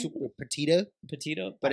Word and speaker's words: Petito: She low-key has a Spanish last name, but the way they pronounce it is like what's his name? super petita, Petito, but it's petito.